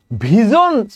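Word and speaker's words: visions: আমরা আরই নাই এটা তাহলে দেখেন দ্যা poem ভিজনস অফ দা past অনেকে ভিশন বলে নো প্রবলেম আমি রাইট প্রোনাউন্সিয়েশন করি ভিজনস হ্যাঁ দ্যা ভিজনস অফ দা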